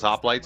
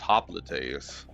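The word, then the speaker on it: hoplite: it says toxo, but you don't pronounce things in other languages with the same sounds you do with the same ways you do in English typically.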